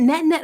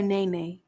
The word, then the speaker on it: Net: Is it Net or Nene? Net. Like a little, like the T is silent.